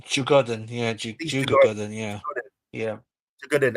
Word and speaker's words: Djurgården: Djurgården. Djurgården, yeah, Djurgården, yeah, yeah. Djurgården. I think it's Swedish. I think the D's pronounced as something else though.